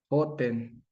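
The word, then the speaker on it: חוֹתֵן: Pero resulta que Hatán se escribe de la misma manera, con las mismas vocales, ve, con las mismas consonantes. Lo único que cambia son las vocales y la pronunciación.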